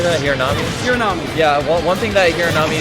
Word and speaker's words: Hiranami: Hiranami.